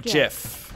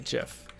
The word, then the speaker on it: GIF: below you is going to hit that it's pronounced jiff exactly jiff um thanks eskros thanks emery s gross